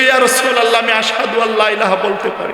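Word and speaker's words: أشهد: কারণ বিলাল রাদিয়াল্লাহু তাআলা আনহু আশহাদু আল্লা ইলাহা ইল্লাল্লাহ বলতে পারতেন না। তিনি পড়তেন আসহাদু। কি পড়তেন? আরো জোরে বলেন। আশহাদু আল্লা ইলাহা ইল্লাল্লাহর পরিবর্তে বলতেন আসহাদু, অর্থাৎ শিনের জায়গা সা পড়তেন।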